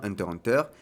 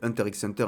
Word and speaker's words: Hunter × Hunter: Le titre original se prononce bien Hunter Hunter, mais c'est pas non plus la peine de faire les puristes. Je l'ai appelé Hunter x Hunter une bonne partie de